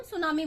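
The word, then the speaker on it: tsunami: ठीक है, तो सुनामी जो है, देखिए इसमें टी साइलेंट होता है, इसको हम सुनामी बोलते हैं।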